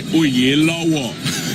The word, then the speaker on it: Oyelowo: Well, my father and any self-respecting Nigerian would say Oyelowo.